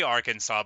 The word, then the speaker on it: Arkansas: this chest here so it's spelled like that because it's from a French word but we say Arkansas but often people wouldn't